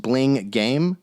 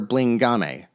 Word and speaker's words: Blingame: a team whose name I think is supposed to be pronounced Bling Game, but I personally prefer Blingame. It just sounds fancier.